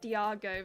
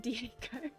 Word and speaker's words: Diego: that before okay so it's not Diago but Diego my pronunciation sometimes